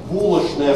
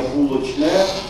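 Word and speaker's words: булочная: между собой в частности в арфаэпическом словаре булошная стоит на первом месте это более правильно считают они для этого слова а в толковом словаре русского языка ожиговошведовой на первом месте стоит произношение булочное А на втором месте как допустимое булочно Но если мы смотрим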